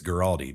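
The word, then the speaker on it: Guaraldi: many others do from vince garotti girardi or gueradium not exactly sure the pronunciation i think it's giraldi but absolutely love that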